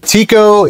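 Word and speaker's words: Tycho: His name was Tiko Brahi and it was spelled like this. T Y C H O Brahei. Uh Tiko is the correct pronunciation.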